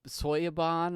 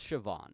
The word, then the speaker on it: Siobhan: um name i i i pronounced soya soyaban or however i said it but it's it's siobhan it's siobhan thompson and i'm terribly sorry